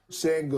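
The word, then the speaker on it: Şengün: Sengun, he at least gets checked on the pronunciation of his name. Sengun.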